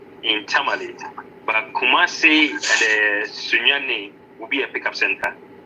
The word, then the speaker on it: Sunyani: And Sunni. Sunyani. It is called Sunyani. Sunyani.